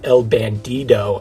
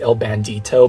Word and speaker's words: El Bandido: because the name is El Bandido and not El Bandito. For those of you who don't know, in English it's pronounced El Bandito, but in actual Spanish it's called El Bandido.